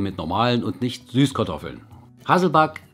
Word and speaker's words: Hasselback: liebe hungrige Fächer bzw hasselback Kartoffeln hatten wir schon hier auf dem Kanal allerdings eben mit normalen und nicht Süßkartoffeln hasselback der Begriff kommt übrigens aus dem Schwedischen und wird also nicht englisch ausgesprochen wir bereiten heute also